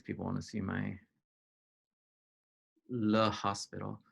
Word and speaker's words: L'Hôpital: want to see my Le Hospital. I used to think that there wasn't an S in his name, but it's just that French people don't pronounce CS.